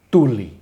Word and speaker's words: Thule: civilização permeando o planeta chama-se tule como se escreve t h u l e é o tule alguns pronuncio quilo ou tem um outras pronúncias dependendo dos filósofos que escreveram sobre gregos e romanos e egípcios mas as pronúncias variam a grafia pode um